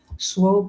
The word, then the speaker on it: Swope: to display or Express Swope rhymes with hope but the resemblance ends there Swope is a